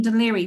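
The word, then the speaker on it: Dún Laoghaire: And Queenstown became Cove, which is spelled C-O-B-H, and also Kingstown in Ireland became Dunleary when we got our independence.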